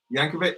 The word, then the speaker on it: Yankovic: your former video editor named yankovic spelled with a j yankovic oh i think you're